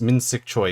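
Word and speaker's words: Min-sik Choi: we go you you so it's min sik choi yeah you apparently you think apparently according to what i know you pronounce the surname first so choice yeah and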